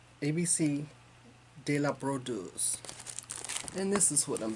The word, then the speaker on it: Brodeuse: at StitchCon, and I love the way she pronounces this. But I'm gonna try it. It's Jardin Privé. It's ABC de la Brodeuse. So I can't roll my R's. So it's ABC de la Brodeuse.